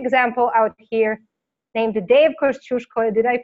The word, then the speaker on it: Kościuszko: Well, you pronounce it right the Polish way, yes, which it is Polish. That's how it's said in Polish, Kościuszko. It's Kosciuszko in American, yeah.